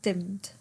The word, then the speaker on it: dimmed: Maybe you might think dimmed should be 2 syllables because it ends in ed. However, say it out loud to yourself. Dimmed. Dimmed. The ed is almost kind of silent or half said, right? It just becomes one word. Dimmed. 1 syllable.